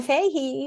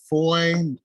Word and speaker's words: Foy: my name is Foy also known as The Voice brander oh so it's a toy it's boy I've been pronouncing it wrong I'm so sorry no good it's Foy like toy with a nephew love